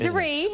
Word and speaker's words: de Riz: And your name is pronounced De Ritz too. Brandi De Ritz.